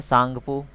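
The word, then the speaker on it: Tsangpo: और इसके पहले इसको बोलते हैं सांगपो, तिब्बत रीजन में, ये भी याद रखिएगा, तसांगपो इसका साइलेंट है, ठीक है।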